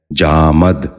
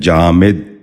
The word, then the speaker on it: جامد: غور سے سنیے، جزم۔ آج کا 10واں اور آخری لفظ ہے جامد۔ یہ غلط تلفظ ہے، درست تلفظ ہے جامد۔ دوبارہ سنیے، جامد۔ بچوں آپ بھی ذہن نشین کر لیجئے، جامد۔ امید ہے ہماری آج